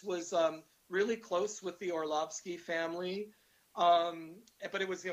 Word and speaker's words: Orlovsky: Am I pronouncing that right? Orlovsky, yeah.